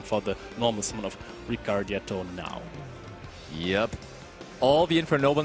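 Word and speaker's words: Ricciardetto: I have had problems with the pronunciation because there is an I in there, Yeah. and I never know where, but it is Ricardetto.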